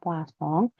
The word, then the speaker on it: Poisson: Sedangkan yang kedua ada yang dinamakan Poisson. Ini dari Prancis ya, bacanya Poisson.